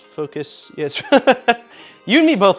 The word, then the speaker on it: Fokoos: and he told me it's just pronounced like focus so yeah i think